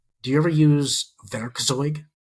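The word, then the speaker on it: Werkzeug: Do you ever use veroig? Definitely not. It's spelled we e r k ze u g.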